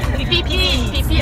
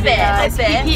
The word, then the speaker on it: Phi: Phi Island. Phi Island. You don't pronounce the H.